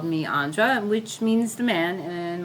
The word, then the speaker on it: Andra: really have from him so he called me Andra which means the man and my father had